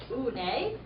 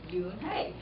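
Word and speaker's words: Unhei: "Une?" the girl asked, scrunching up her face. One," some kids chanted. No, Yoon-hae corrected. It's spelled U-N-H-E-I. It's pronounced Yoon-hae.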